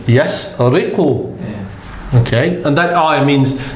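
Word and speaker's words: يسرق: So you read that ayah and you know that it's pronounced in this fashion. Yasriqu.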